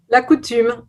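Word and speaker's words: la coutume: that right sally how do we say this la coutum you did it well that'll be the first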